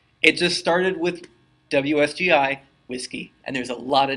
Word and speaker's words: WSGI: whiskey beer garden it just started with WSGI whiskey and there's a lot of names like that I also learned how to pronounce works ERG which is which is the